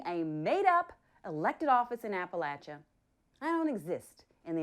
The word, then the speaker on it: Appalachia: I'm from in Appalachia go ahead say it Appalachia pronounce it correct or I'll throw this Appalachia I